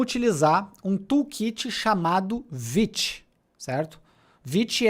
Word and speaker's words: Vite: francês, mas mas a palavra é francesa, então a pronúncia não é white que a gente fala, é vit.